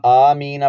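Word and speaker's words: آمِّينَ: کا ہجے کرتے ہیں۔ حمزہ، میم، کھڑا زبر مد، آم، اس طرح پڑھیں گے۔ آم، میم پر شد ضرور پڑھیں گے۔ میم یا زیر می، آمی، اس طرح سے پڑھیں گے اس کو۔ آمی نہیں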